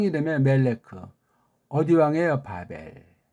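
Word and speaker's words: בָּבֶל: 바벨. 그것도 바벨이라고 해야 되는데 영어 시대의 그 깽판 노는 것 때문에 바벨론 그런 식으로 이러는 완전히 굳어져 있잖아요.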